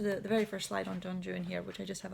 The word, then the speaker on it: Don Juan: I'm specifically pronouncing it Don Juan. Obviously, the kind of a more correct pronunciation would be Don Juan, but Byron plays with